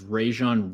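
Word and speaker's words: Rejzohn: Rajon Wright.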